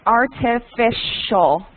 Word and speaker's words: artificial: health uhhuh and then this is pronounced artificial when you have the C and the the I the C and the I become pronounced like a sha so artificials artificial sweeteners